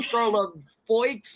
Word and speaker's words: Charlevoix: He pronounced it Charlevoix or Charlevoix or something like that. I said, no, hun, it's Charlevoix.